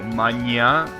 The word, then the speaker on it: manhã: Oh, manhã. Nice, so it has accent on the last one.